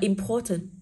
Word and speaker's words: important: Đọc là important, thì cô sẽ có pro là o dài. Trọng âm ưu tiên rơi nguyên âm dài, âm tiết thứ hai của từ.